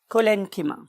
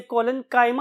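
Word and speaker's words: collenchyma: बहुत से और प्रोनाउंसिएशंस भी अवेलेबल है, खासतौर पे हमारे इस कॉन्टिनेंट के पार्ट में, तो बहुत से लोग इसे कोलेनकाइमा भी बोलते हैं, बट the true pronunciation is कोलेनकिमा एंड पेरेनकिमा।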